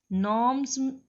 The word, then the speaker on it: gnomes: Gnomes, it is pronunciated as gnomes. G is silent here.